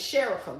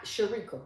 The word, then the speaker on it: Sherica: Your name is Sherica, not Sherekica.